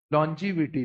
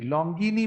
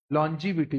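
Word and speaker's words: longevity: ये वर्ड को जरा प्रोनाउंस करो मेरे साथ। लोंजीविटी लोंगिनी बोलते हैं। क्या बोलते हैं? लोंजीविटी।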